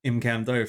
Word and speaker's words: Imcando: So I paid Romano for his services and received the best hammer in the game, the Imcandu hammer. Unless you're not into having fun and want to pronounce it Imcando for some reason.